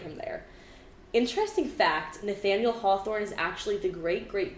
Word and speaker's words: Hawthorne: h-a-t-h-o-r-n-e like it didn't and it was still pronounced Hawthorne like it didn't match the way like phonetically